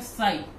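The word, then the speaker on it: ψ: ठीक है, इसका सिंबल क्या लिखते हैं, सिंबल इसका ऐसा त्रिशूल टाइप का रहता है, इसको क्या प्रोनाउंस करते हैं, साई।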